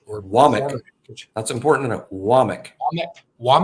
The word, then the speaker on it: Wommack: too aware of him I mean I said wack for a while until until I was told otherwise but uh no his his name is pronounced wck uh um okay yeah all right yeah it's